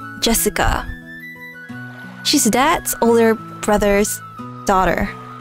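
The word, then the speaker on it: 朱志香: the same kind of weird name you see is pronounced Jessica she's dad's older brother's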